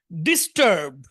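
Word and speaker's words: disturb: ডিস্টার্ব, ডিস্টার্ব, এখানে টি, এখানে মূল অক্ষর উচ্চারণ টি, কিন্তু এখানে ট এর মতো হবে। কেন ট এর মতো হবে বলেন তো? এস এর পরে এসেছে।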